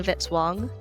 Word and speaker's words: Vitzwang: Music by Kevin Vitzwang rhymes with hit song.